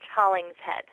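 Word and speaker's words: Hollingshead: I think it's Hollings Head. Hauling shed. Oh no, without the sh just with an h. Hauling's head. Oh, so it's silent. So the S is silent.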